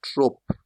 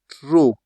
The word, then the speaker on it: trop: The next, you don't say trop. You don't say trop in French. You just say trop. Since this is a consonant, you drop it. You don't pronounce it.